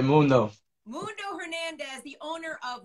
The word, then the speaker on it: Mundo: Yeah, that's exactly how you say it, Mundo.